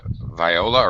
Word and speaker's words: viola: Section 1, violin, viola, cello, double bass, harp. Maybe strings. Yes, stringed instruments, instruments with actual strings. Okay. Violin, viola, or viola, that actually has two pronunciations.